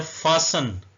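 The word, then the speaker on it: fasten: 25 दिसंबर next है फसन T silent है बांधना जैसे मोटर वे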